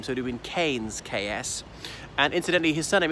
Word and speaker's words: Keynes: over the English Midlands em canes as in Milton Keynes well who say that we tend pronounce the town Keynes Keynes but that